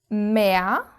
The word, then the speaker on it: Meer: sea you swim in, which you can see ends with an R, but you don't pronounce it. You don't say mer, you say mer, which actually really sounds like you have added an A, mer.